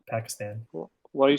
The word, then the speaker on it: Pakistan: other you keep saying Pakistan yeah this is pronounced my friend Pakistan Pakistan what are you saying you're like the Pakistan